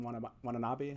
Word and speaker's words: Watanabe: I think I had seen you like you said Ken Watanabe. I don't know if I pronounced Watanabe. Yeah. Watanabe.